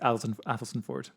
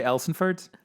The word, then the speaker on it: Athelstaneford: It's just pronounced Athelstan Ford. You're doing very well in pronouncing it. Thank you. Some people say Elsenford, but I've never heard of it, so I don't have an opinion.